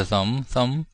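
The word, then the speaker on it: thumb: TUMB, sum이죠, sum. B는 묵음.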